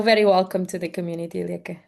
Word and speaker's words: Lieke: Feel very welcome to the community, Lieke. Is the right pronunciation, Lieke? It's perfect. Most people say something very different, so well done.